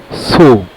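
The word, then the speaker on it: Tso: তিব্বতী ভাষায় লেককে বলে সো টি এর উচ্চারণটা হয় না।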